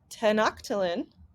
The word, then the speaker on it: Tenochtitlan: It tells you in this chapter that their capital city is, I'm going to pronounce it wrong, Tenochtitlan.